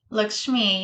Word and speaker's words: Lakshmi: Lakshmi, Did I yeah.